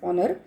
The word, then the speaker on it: honor: So honor here, it is starting with H, but while we pronounce it as honor.